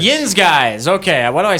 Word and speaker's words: Yinz Guys: Sten Brothers the how do you say it Yin guys Yin guys okay why do I say the stin brothers